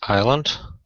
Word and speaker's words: island: First island. Yes, good, well pronounced. So what's the silent letter in number 1? C. S. S. Yeah, excellent.